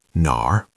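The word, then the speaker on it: 哪儿: In Chinese, we say nar. Third tone, dip down and up, nar. It has that R pirate sound at the end, nar.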